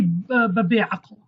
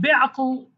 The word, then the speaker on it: be'aql: But you cannot say be'aql. You cannot say that. But be'aql, it means you are stupid.